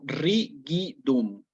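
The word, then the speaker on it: rigidum: a tener tres posibilidades en el latín clásico esta palabra se hubiera dicho como ridum una G suave como cuando yo digo guante por ejemplo goma gato sí cuando aparece la eclesiástico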